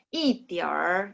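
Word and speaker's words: 一点儿: 29 一点儿 jadi langsung baca er-nya langsung disambung ya 一点儿 ya.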